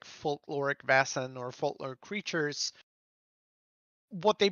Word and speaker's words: Vaesen: it doesn't so like vassen is its own word so okay got it the spelling they've done is a way to sort of pronounce the word as it is in swedish in swedish is vessel